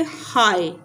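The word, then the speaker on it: high: बोलने में नहीं आती जैसे हाय जी क्या है जी की आवाज यहां पर नहीं आई ये है साइलेंट इस तरह साई ये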